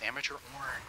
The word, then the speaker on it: Amateur Orn: Oh, Amateur Orn. This was the guy who didn't want to give me Malzahar. And this guy thinks his name is so funny because Amateur Orn rhymes with Amateur Porn.